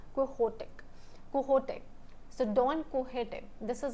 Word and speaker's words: Quixote: Actually it's Spanish, the name is Spanish, ठीक है, तो इसलिए it is pronounced as Quixote.